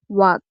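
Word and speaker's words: walk: কোনো শব্দে যদি এল এর পরে কে থাকে সেক্ষেত্রে এল এর উচ্চারণ হয় না, তবে এটি বেশিরভাগ ক্ষেত্রে, সব ক্ষেত্রে নয়। ফর এক্সাম্পল, ওয়াক এই শব্দে কিন্তু এল এর পরে কে আছে, তাই এল এর উচ্চারণ হবে না।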